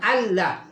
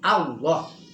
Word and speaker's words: Allah: Jadi disebutnya Allah, tapi tulisannya Allah. Tulisannya Allah. Tapi dibacanya bukan Allah, tapi Allah.